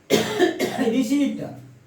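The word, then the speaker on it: wrist: डब्ल्यू का pronunciation नहीं होगा जब भी आर के पहले डब्ल्यू आता है उसका प्रोनाउंसिएशन नहीं होता है। रिस्ट, ये नहीं होगा, रिस्ट।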